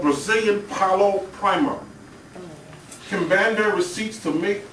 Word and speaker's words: Palo: You go to the Botanicas, and it's called Brazilian Palo Primer.